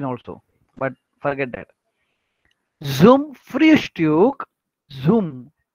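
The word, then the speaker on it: Frühstück: The does फ्रियुस्ट्यूक, pronunciation कैसे करते हैं, देखो यू उमलाउट है, अगेन यू उमलाउट.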